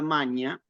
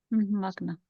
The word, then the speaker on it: magna: tenemos a ver nosotros esta palabra maña en realidad en como latinismo la tenemos más conocida como como pronunciación clásica Magna el aula magna por ejemplo Sí bueno curioso ese fenómeno no en realidad pero en la pronunciación italiana en La Romana en la eclesiástica Es maga si la G con la n solamente ese pequeño detalle inau entonces frasea sal